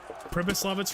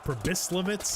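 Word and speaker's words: Pribyslavitz: commented that I was saying uh pris lit wrong it's pris litz I I've heard it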